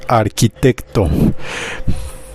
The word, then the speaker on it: arquitecto: significado en español es arquitecto hay que tener mucho cuidado porque en esta ocasión esta ch no va a pronunciarse como la H normal va a tener un sonido distinto vamos a pronunciar esta